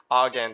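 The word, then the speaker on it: Argand: r r all right Argan diagram that's how that is supposed to be pronounced um so straight off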